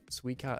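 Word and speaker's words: スイカ: so we got am i saying it right suica and daku hello and you said i'm sorry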